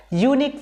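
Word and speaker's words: unique: site a यूनिक site यूनिक में देखिए सबसे पहले य के उच्चारण पता चलता है यूनिक यू निक ओके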